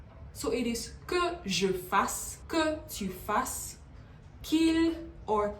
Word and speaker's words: fassent: So it is que je fasse, que tu fasses, qu'il or qu'elle fasse, que nous fassions, que vous fassiez, and qu'il or qu'elle fasse. Not fassent or fassant, fasse.